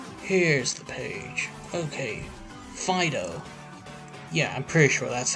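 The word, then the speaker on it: Fidough: here's the page okay fido yeah i'm pretty sure that's how you say it i mean it's like a pun you know fido and fight dope so this pokemon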